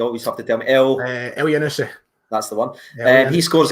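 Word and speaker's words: Elyounoussi: But anyway, how do you pronounce it again, Ryan? You always have to tell me. El Yanusi.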